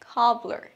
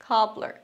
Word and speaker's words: cobbler: টিপ, শব্দের শুরুতে ক সাউন্ড থাকলে সেটা সাধারণত খয়ের মতো উচ্চারণ হয়, কবলার, কবলার।